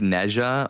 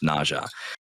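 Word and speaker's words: Neith: Yeah, it's weird because it it looks like Nea or you know, Na or something, but it's actually technically pronounced Neha.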